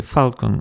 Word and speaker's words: falcon: Par exemple, le mot anglais falcon se prononçait sans L, mais de nos jours, quasiment tous les anglophones le prononcent avec un L.